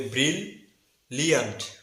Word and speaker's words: brilliant: ব্রিল, প্রথম সিলেবলটির উচ্চারণ হবে ব্রিল, দ্বিতীয় সিলেবলটির উচ্চারণ হবে লিয়ান্ট। দুইটি মিলে সঠিক উচ্চারণ হবে ব্রিল লিয়ান্ট।